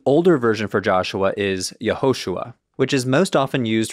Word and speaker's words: Yehoshua: this name the older version for Joshua is yahushua which is most often used for Joshua the